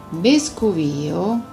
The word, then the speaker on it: Vescovio: Vescovio, la retta pronuncia vuole l'accento sulla I, è quindi l'antica Forum Novum del tempo di Roma e della Sabina.